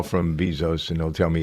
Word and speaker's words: Bezos: Thought it was interesting that Jeff Bezos, you pronounce it Bezos or Bezos, ladies? It's Bezos. Bezos. No, it is Bezos.